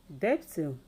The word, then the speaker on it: debtor: If you look at the spellings, they all have a B spellings, which is silenced.